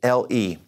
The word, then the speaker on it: le: First of all, there's this one, L-E.